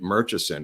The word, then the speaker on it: Murchison: about later, May Newman, pronounces it Murchison, and she worked for them for 32 years and worked for his first wife, who went by the name Murchison. She went by the name as Clint's last name, and she pronounces it as Murchison. So I've been castigated for saying Murchison, but I've heard it both ways.